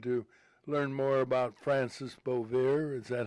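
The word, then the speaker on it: Bavier: reason I wanted to learn more about Francis Boe. Is that how you pronounce Francis Boier? Boier Francis Boier.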